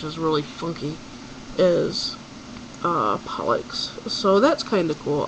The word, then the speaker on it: Pollux: amelia you said pollock it's a pollux pollock i think you're thinking of the whitefish and that's p-o-l-l-c-k-u-c-k um but this is caster and pollux um you pronounce that x as an x um but both castor